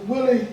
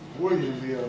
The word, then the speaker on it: William: Willie Hill, right? Mr. Hill? William Hill, not Willie.